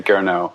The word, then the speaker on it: Gernot: But, there is actually a T that's non-silent, but then it ends up turning into Gernot. And I'd much rather have the sort of no T, long O pronunciation. Most people say it that way, Gernot.